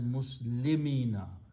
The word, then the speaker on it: muslimina: so whenever that happens we change this W to a y grammatically and pronounce as muslimina muslimina means those people